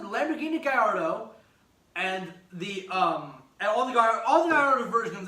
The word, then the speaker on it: Gallardo: And if you say Gallardo, I will find you and drive a railroad